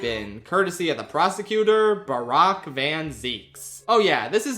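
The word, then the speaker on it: Barok: his name, it's apparently pronounced Barack like Barack Obama.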